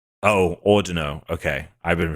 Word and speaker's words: Audino: But um and and obviously it's ordino right? So uh if we want to yeah if you want Oh ordino okay I've been pronouncing it oh cuz ordino may be derived from audio and a pun on